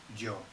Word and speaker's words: yo: Joe. So that sounds like Joe, yeah? It's like somebody's name in English, Joe.